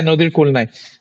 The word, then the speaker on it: Nodir Kul Nai: And sir, your experience while making Nodir Kul Nai. Am I pronouncing it right? Yeah. Yeah, Nodir Kul Nai.